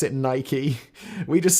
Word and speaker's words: Nike: we get started I know in America you pronounce it Nike we just say it Nike in the UK and we know it's wrong